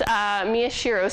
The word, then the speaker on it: Miyashiro: I heard someone say it right so it's Miyashiro son we should say who developed this diagram